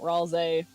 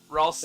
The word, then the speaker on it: Ralsei: video I posted in the meme channel about Ralze. Oh, okay, so is Ralze the Benz? That one, or is there a different Ralze one? Ralsei.